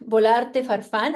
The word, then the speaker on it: Bolarte Farfan: My name, Bolarte Farfan. I'm pronouncing it in the Spanish way.